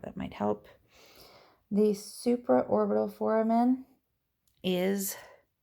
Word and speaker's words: foramen: The supraorbital foramen is right above the eye, right here. And the mental foramen is, I know I just pronounced it wrong before, but that is pronouncing it right now, is this little guy right in here.